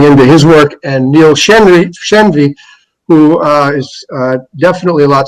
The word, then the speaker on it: Shenvi: writings already on, and I apologize if I mispronounce this, Shenvi Apologetics .com, is that right?